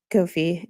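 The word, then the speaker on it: Ko-fi: that you uh um thanks to those who corrected my pronunciation of Kofi. It's the website does indeed indicate it's a play on coffee.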